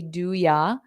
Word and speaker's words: do you: you they'll sound together you can also say doya do you doya now want to becomes